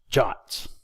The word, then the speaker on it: JWT: web token or jwt jwts are sometimes pronounced jots a jwt may look